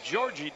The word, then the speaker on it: Jorge: as we look at Georgie Diaz from Lisbon, Portugal. We called him Jorge yesterday. That's the Spanish pronunciation, but today we're going to give him his rightful Portuguese pronunciation. It's Georgie.